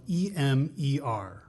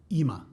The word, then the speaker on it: Emer: So in an Irish accent and an American accent, you would say Emer. Emer. But because I'm from Essex and I don't really say my R's, I say Emer. Ema. Yeah. Okay, that's fine. So it depends where you're from, how you would say my name, really.